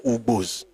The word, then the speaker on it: Igbo: The reason they have different pronunciation is because of dialectal differences. The northern Yoruba will call U, I. The ones in the central and eastern Yoruba use U, for instance, Ule, Ulesha, Ushu, Ufe.